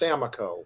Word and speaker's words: Samakow: My last name is pronounced Samakow.